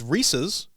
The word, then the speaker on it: Reese's: is a guy rhys it's a last name that's like saying allen's if this said allen's would you say allen's pieces well no so when it says reese's because there's apostrophe though